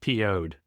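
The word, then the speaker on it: Piouhgd: They actually had an album that was spelled Pioughd, but it's pronounced PO'd, as in pissed off.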